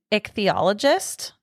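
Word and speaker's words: ichthyologist: He finally gets there and he meets with I am going to butcher how this is pronounced, but it's like an ichthologist I believe is how you say it.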